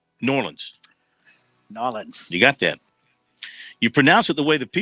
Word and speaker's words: New Orleans: Jones 67305 of New Orleans knows the correct pronunciation of New Orleans not New Orleans New Orleans you got that you pronounce it the way